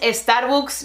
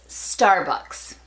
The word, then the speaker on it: Starbucks: 10 min bryant es la pronunciación de esta marca no es estar books ni starbucks es estar box puede ser un poquito